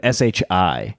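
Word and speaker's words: 是: Because it's written SHI, so that trips people up. People say she a lot, but it's actually pronounced shi.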